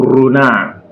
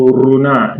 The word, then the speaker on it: renard: So, D is silent when it is the last letter. Our D in French is silent when it is the last letter. So, e.g., le canard, le canard, le renard, le canard, D is silent.